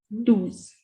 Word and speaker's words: douze: The pronunciation of O and N is on. Ons. This is do's.